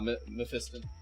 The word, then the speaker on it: Mephiston: Oh, I thought you were just mispronouncing Mephisto on purpose. Nah, Mephiston.